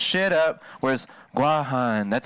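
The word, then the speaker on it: Guåhan: like that gifts well technically that's like the way the white people pronounced it and that's why it's called guam the orig the origination of it sounds racist the origination of it is guajan see but then the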